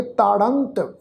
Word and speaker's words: ताड़ंत: अनिक शासन ताड़ंत जमदूत है, ताड़ंत राड़ा अखर आ जी, राड़े अखर के उत्ते टिप्पी की मात्रा वा, इसका उच्चारण करांगे ताड़ंत।